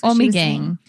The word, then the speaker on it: Ommegang: got your voice message Ommegang Oh me game that's Ommegang we keep saying it wrong I keep saying it